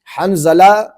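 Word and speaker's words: حنظلہ: کرنا چاہتا ہوں کہ یہاں ان سے حنزلہ نہیں نکل رہا، یہ حنجلہ کہہ رہے ہیں، تو جب یہ نماز پڑھاتے ہوں گے تو اس وقت یہ تلفظ کیا ادا کرتے ہوں گے؟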